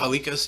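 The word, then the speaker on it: Halkias: Stavros Hulk. Am I I'm saying it wrong. Hikos.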